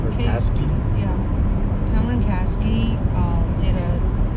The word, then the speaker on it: Kasky: Yesterday morning, we went to an event where Cameron Kasich, how to say his last name? Kasky?